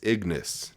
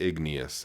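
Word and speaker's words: Ignis: that was in here it's Ignace not igneous I'm pronouncing it incorrectly I'm sorry let's see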